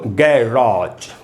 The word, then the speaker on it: garage: वही साउंड निकलता है, तो इसको पढ़ेंगे दोस्तों गैराज, गैराज, पर स्ट्रेस है, रा के बाद ऑलरेडी यहाँ रुकना है ही, गैराज।